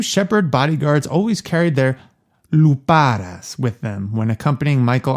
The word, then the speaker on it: lupara: His two shepherd bodyguards always carried their luparas with them when accompanying Michael on his walks. Alex, say it with me. Luparas. Lupares. Luparas. Luparas.